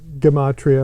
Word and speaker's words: Gematria: Gematria. Gematria, it's a harder G.